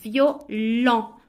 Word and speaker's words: violent: segundos para pensar diferente esta significa violín y se pronuncia violo violo y esta significa violento y se pronuncia violó violo aquí tenemos el sonido nasal como la moto y aquí tenemos el sonido nasal O como cuando dices No no violó más contenido